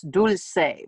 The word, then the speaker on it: Dulce: one more um my my name is actually in spanish it's dulce but anglos and others can't say it so it's a that's